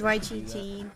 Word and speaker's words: Yggdrasil: It's Yggdrasil.